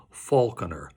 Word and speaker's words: Falconer: By the way, I prefer the pronunciation Falconer. It sings better.